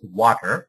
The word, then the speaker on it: Watir: So the word water it is it is pronounced as water as we drink water.